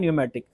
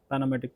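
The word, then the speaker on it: pneumatic: यूज कर रहा हूं न्यूमेटिक गलती से लोग इसको पमेट भी कुछ बोलते हैं पेनोमेटिक प ओ भाई पी साइलेंट है टिक है निमोनिया जैसे होता है अच्छा अब कंप्रेस्ड एयर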